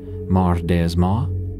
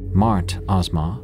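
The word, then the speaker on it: مردآزما: It may be pronounced a bit differently in various parts. Mar Dasma, Mart Asma, some might call it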